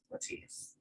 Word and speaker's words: Letize: It was not it wasn't originated to be pronounced that way. But when the Italians came over, this is my husband's story. This is his genetics. But when his family came over, they were Letizia, and so that feels